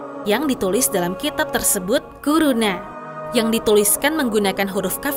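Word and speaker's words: كورونا: Bacanya tuh kuruna.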